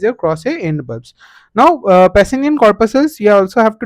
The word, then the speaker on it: Pacinian: Also, you have to remember that Pacinian last part rhymes with onion.